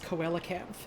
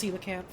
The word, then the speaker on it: coelacanth: Congrats on important coelacanth footage. For years and years and years, I thought they would just pronounce coelacanth. It's not, it's coelacanth. Or something like that, at least.